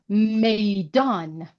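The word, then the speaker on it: میدان: this word is meidan. Meidan. So me start with me, and here it's not a long vowel of e, but consonant of ye, meidan.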